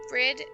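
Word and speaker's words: Bríd: It's pronounced with a long E. Similar to the English word breed. But the final D is like the D in Bridget. Almost sounds like a J.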